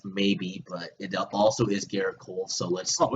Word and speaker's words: Gerrit Cole: are you chugga-chugga choo-choo first name rhymes with parrot oh and his last name rhymes with pole Oh chugga-chugga choo-choo baby